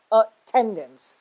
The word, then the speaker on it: attendance: example of attendance okay we stress on the second the one the one that start starts immediately after a so it is attendance okay intense executive okay